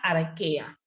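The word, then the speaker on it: Archaea: teníamos el dominio arquea si arrechea se escribe se pronuncia arkía que incluye también un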